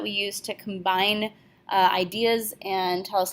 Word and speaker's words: et: each other so there are only three of them and you already know the first one which is a and it is pronounced a even though it's spelled et the word is a